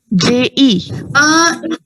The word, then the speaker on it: je: J-E. J-E is the spelling and it is pronounced as je. Je. Je. Yeah, exactly. Like you're saying it as J, that's actually a different word I'll be telling you.